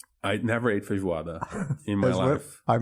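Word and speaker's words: feijoada: I never ate fijuada in my life. I mispronounced it. No, you didn't. You did right. It's called fijuada. Vijuada.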